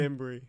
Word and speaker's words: Bembury: it's Bembury. Oh, it is Bembury.